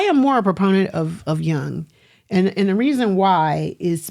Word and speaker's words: Jung: But I am more a proponent of Jung.